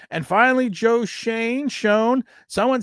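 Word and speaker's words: Schoen: the fu doesn't care does Shan and shanee sound the same who's he trying to fool cuz eats crusta and he thinks he's cool it's pronounced shown you are like he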